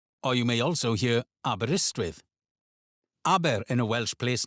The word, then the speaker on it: Aberystwyth: Aberystwyth. Aberystwyth. Or you may also hear Aberystwyth.